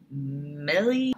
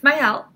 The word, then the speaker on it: Maëlle: I was like, is it Millie? It's Maëlle.